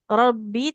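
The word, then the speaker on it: رَبِّ: Afwan, untuk bacanya tadi sedikit di Robbi. Robbi tidak panjang mbaknya. Huruf kasroh panjang kalau ada huruf ya di depannya ya.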